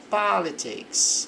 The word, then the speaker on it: politics: Conservative approach to politics. A sílaba forte fica aqui no politics.